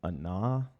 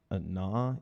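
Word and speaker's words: Ahna: So tonight's myth or the character of tonight's myth is a woman named Anna. Anna, you spell that A-H-N-A, Anna.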